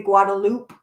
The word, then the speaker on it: Guadalupe: The Guadalupe River is the Guadalupe, and you don't pronounce it in the Mexican pronunciation. You pronounce it in the Texas pronunciation.